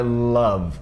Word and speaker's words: love: Primeira coisa é que não é love, esse som de O tem som de então é love, não é love. E esse E no final, ele não é pronunciado.